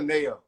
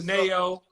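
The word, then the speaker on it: NAO: I love Nayo. I'm Nayo. really a fan of Nayo. That's a singer. Spell it.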